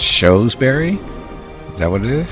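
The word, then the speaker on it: Shrewsbury: So Skyward the pronunciation of the second one you did shoes. So it's showsberry.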